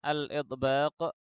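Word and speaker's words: الإطباق: Dari kriteria ini muncullah dua buah sifat yang berlawanan, yakni yang pertama adalah al-idbaq, dibaca dengan tahqiq karena hamzahnya adalah hamzah qata'.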